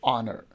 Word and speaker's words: honor: another word like a honor so we don't pronounce her we just say honor so you have to keep in mind that